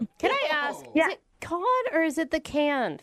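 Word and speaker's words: Cannes: But what's Yeah, but the pronunciation is it con or can?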